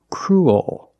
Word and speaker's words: cruel: make the dark l so cruel that's the dark L cruel and it's not cruel there's kind of an extra sound and where it comes